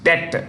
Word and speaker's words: debt: Sri Lanka for its debt the bee is silent in debt debt restriction with the